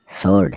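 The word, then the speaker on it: sword: answer मतलब उत्तर एस डब्लू ओ आर डी सोर्ड सर्ड मतलब तलवार डब्लू आर ए पी रैप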